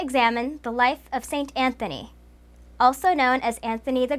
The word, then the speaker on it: Anthony: In English, it is pronounced Anthony.